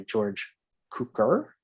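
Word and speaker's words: George Cukor: was also directed by george cooker i believe is how you pronounce the name but ironically too and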